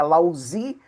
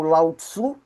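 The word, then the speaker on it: Laozi: O personagem que nós vamos tratar hoje, que é o fundador, né, do tauísmo, que é Lautsan, né, fala, se pronuncia lautã, mas seria lauzi ou lautsu, ele pertence aqui à dinastia Zu, né, que vai de 1066 antes de Cristo até 221 antes de Cristo.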